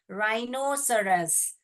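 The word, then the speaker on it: rhinoceros: राई नो, मैंने बताया था ना, सी और जी जो है ई के आगे आएगा तो सी का साउंड स हो जाएगा। राइनोसरस, साइनोसरस, चार भागों में डिवाइड करके पढ़िए। राई नो सरस, राइनोसरस।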